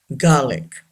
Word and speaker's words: garlic: Garlic. R is not pronounced. Garlic.